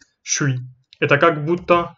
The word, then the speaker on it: je suis: То есть ж станет ш. И ш с это немножко сложно сказать. Тогда мы просто говорим шуй.